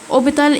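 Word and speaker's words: hôpital: الكلمه بتبقى سايلنت يعني الاش لو جت في اول الكلمه بتبقى ايه سايلنت زي اوبيتال اوبيتال اللي هي مستشفى اوبيتال اوبيتال ما نطقتش الاتش لان هي سايلنت طيبم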